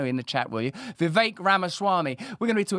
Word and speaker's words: Vivek Ramaswamy: will speak freely with Vic ramaswami VI excuse me I mispronounced that a little bit VI that's how I think it's correctly said let me know in the chat will you Viv ramaswami we're going to be